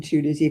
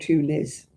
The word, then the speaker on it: Tunis: There's actually a place in Tunisia called Tunis. It's not Tunis, it's Tunis.